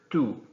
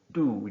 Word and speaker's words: tú: So it's not tú, it's tú. You're not going to spit, okay? Tú.